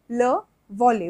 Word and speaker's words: le volley: Next is le volley, which means volleyball. So here we do not pronounce like e, volley. We do not pronounce e, we just have to say volley.